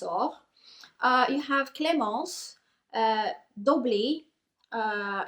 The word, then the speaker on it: Doblis: you have Clos uh dobly uh it's it's written like doblis but I'm pronouncing it bit in French you